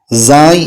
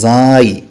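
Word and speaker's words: زاي: ഇനി അടുത്തത് സായ് എന്നുള്ള അക്ഷരമാണ്. നമ്മളൊക്കെ സാ എന്നായിരിക്കും മദ്രസയിൽ നിന്ന് പഠിച്ചിട്ടുണ്ടാകുക. സായ് സായ് അതിൻ്റെ യഥാർത്ഥ ഉച്ചാരണം അങ്ങനെയാണ്, സായ്.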